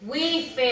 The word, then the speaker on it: wife: Yo he escuchado mucho decir wife o wife. No, that's not correct. The correct pronunciation is wife.